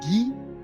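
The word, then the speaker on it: Guy: a living all right my full name pronounce it's French so you'll hear the French Canadian accent behind everything that I talked so it's ghee I do live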